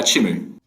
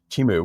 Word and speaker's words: Chimu: how do I pronounce it how do you pronounce it more importantly uh chimu chimu where's it come from so there are a